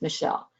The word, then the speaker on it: Mischel: test by Walter Mischel I know it's spelled funny but it's Michelle it's less and and